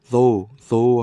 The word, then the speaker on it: though: though 하면은 GH는 묵음이고 though 하면 GH는 묵음이고 접속사 though는 무엇이긴 하지만